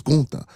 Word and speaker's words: Gunther: It's not Gunther. Y'all stayed pronouncing the man right name wrong. It's Ga.